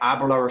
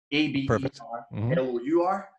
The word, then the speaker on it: Aberlour: And you can also find me personally at Aberlour Chicago, all one word. So I don't know if you'll be able to see it, but it's Aberlour spelled like that, A-B-E-R-L-O-U-R.